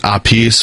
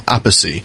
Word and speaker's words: Appice: online, and it says that Carmen pronounces it Appice, while his brother Vinny uses the 3-syllable Appice.